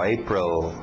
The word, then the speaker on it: April: A pronúncia February, February, January, February, March, April, aquele L no final, April, May, June, July, nada